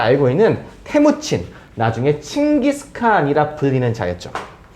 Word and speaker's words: 테무친: 테무친, 칭기스칸의 이름이고요. 칭기스칸은 위대한 칸은 지도자니까 위대한 지도자라는 뜻이고요. 본명은 테무친. 우리식으로 발음하면 철목진입니다.